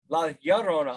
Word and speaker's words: Llorona: La Llorona is La Llorona.